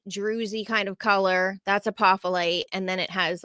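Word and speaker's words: apophyllite: Apolite. The f it sound is actually a ph. Um, but apolite.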